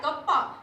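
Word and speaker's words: kappa: इसका प्रोनाउंसिएशन क्या होता है, कप्पा, ग्रीक वर्ड है ये, ठीक है।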